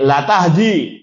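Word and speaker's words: لا تهدي: yang lain innakaahdiatin mustaqim lanya panjang atau pendek itu pendek la tahdi Makanya jangan salah bacanya kalau la tahdi bahaya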